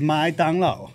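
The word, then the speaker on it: 麦当劳: Xingba, And then McDonald's is mai dang lao. I don't eat McDonald's anymore. And that's not just me putting on a Chinese accent. That's how you say it.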